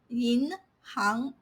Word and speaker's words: 银行: But when it appears in professions, industries, and roles, you have to pronounce it as 行. For example, 银行.